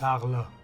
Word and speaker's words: Arles: y la respuesta correcta es arles o si lo pronunciamos en francés arlo Cómo se cortó la